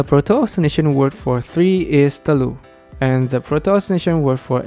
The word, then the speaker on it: telur: the Indonesian or Malay word for egg is talur in Malay it's even pronounced as talu which sounds even closer to